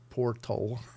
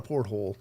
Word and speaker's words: Portal: Tex calls it a portal, porthole, whatever. Anyway, it's not a porthole. It's a portal.